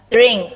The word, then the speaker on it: drink: Drink, ini dibacanya drink. Drink, drink. Karena ada R, lidahnya seperti biasa agak dilentikan lagi, dikeritingin lagi. Drink.